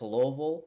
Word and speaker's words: Louisville: you catch me saying Louisville wrong please don't say anything I I don't care I I've been told it's Lille Lille it's not how it's spelled but I'll say it like that so this is a